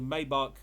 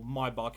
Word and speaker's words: Maybach: had a choice of the Maybach or my bark as you mispronounced it and a rolls-royce